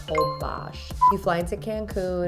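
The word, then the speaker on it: Holbox: year we went to hobash spelled whole box pronounced obash you fly into cancun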